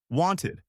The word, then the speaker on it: wanted: Cooked with a t sound at the end, loved with a d sound at the end, wanted with a ed sound at the end.